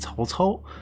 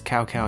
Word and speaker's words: Cao Cao: last generation ended with Cao Cao, who is mispronounced as Cow Cow in Dynasty Warriors.